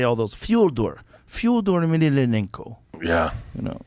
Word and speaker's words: Fyodor: Well, Fedor Emelianenko, that's not how you say his name. His name is Fyodor. Fyodor.